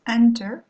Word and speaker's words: enter: Donc à ce moment-là, on va doubler la consonne, contrairement à celui-ci qui se prononce enter, où donc l'accent tonique tombe sur la première syllabe, où donc là, on ne va pas doubler entering.